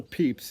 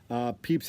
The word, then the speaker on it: Pepys: Samuel Pepys, and it's spelled P-E-P-Y-S.